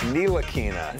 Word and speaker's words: Ntilikina: Excellent pronunciation. Kind of spicy. Ah, it's Nilakina.